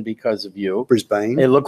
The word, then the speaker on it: Brisbane: the stories have been which I know it's pronounced Brisbane because of you Brisbane it looked like Brisbane to me what do I know I mean